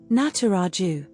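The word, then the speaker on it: Nataraja: Pronounced Nataraju.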